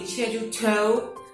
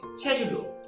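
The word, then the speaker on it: 제주도: Okay, it's not really Jeju-do, or not really Jeju-to, but it's Jeju-do. So they have this special pronunciation of that. Okay, that actually cannot be expressed in romanization of English or no BM.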